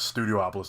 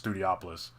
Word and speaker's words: Studiopolis: I've been mispronouncing it as Studiopolis this whole time. It's Studiopolis, which is kind of like a night city TV production like type of thing.